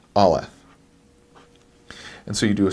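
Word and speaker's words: אלף: Now the sound that this makes is a little bit strange. It doesn't make one at all. Aleph is a silent letter, and so no sound will be made from it.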